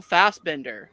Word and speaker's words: Fassbender: answer is Michael Fassbender. He said Okay, well I put an extra syllable.